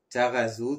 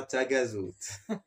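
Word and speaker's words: Taghazout: GH, ça se lit toujours R. R. Comme Tarazout, ce n'est pas Tagazout. Donc, le R et deux R roulés à la suite.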